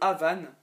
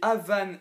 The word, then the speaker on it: Havane: Alors, au tout summum, il y a le Havane, la couleur Havane, comme ma lapine Havane qu'il y avait avant.